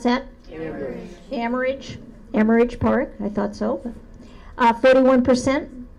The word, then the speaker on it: Amherst: 51% use, help me pronounce that? Amherst Park, I thought so.